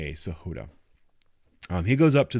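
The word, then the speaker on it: Sahota: it Donald uh Saha I'm gonna say sahud is how you pronounce it um s a h o t Saha um he goes up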